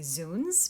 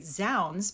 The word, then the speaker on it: zounds: But then a lot of other actors prefer to say zones because people are more familiar with that pronunciation.